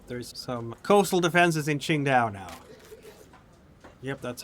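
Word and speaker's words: Qingdao: There's some coastal defenses in Ching Dao now. Yep, that's how you pronounce it. It's not Tinkao, it's Chinda.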